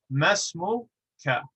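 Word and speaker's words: ما اسمك: Masmuka. We run these two together because the first letter is a hamzatul wasl, and so we do not pronounce it unless it's at the beginning of a sentence.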